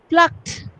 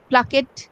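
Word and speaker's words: plucked: টক এই যে একটা ট ট উচ্চারণ থাকে, দেখো টকড। ওকে। আবার যেমন ধরো প্লাকড, প্লাকড আমরা কিন্তু বললাম প্লাকড, প্লাকেট, নো, প্লাকড।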